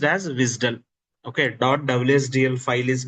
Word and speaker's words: WSDL: This is pronounced as WISDL. Okay. WSDL file is pronounced as WISDL.